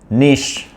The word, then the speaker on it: niche: It is pronounced at jewelry. Okay. The other word is nish. Nish.